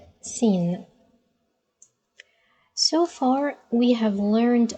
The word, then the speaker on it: سين: see here it's a easy to pronounce scene almost like the letter s in English but the only difficulty